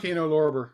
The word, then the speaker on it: Kino Lorber: Kino Lorber.